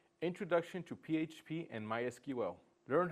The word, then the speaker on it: MySQL: What is MySQL? MySQL is a relational database management system. It stores and organizes data. MySQL pronounced my s q l is a relational database management system.